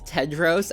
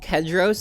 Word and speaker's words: Tedros: The character's name is Tedros, not Kedros, as I say throughout the review.